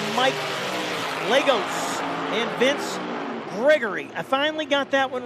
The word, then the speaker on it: Gregory: I've been calling him Grejor for about 3 races, and I was in his trailer here the other day, and I found out, yes, I've been saying it wrong, but nobody corrected me.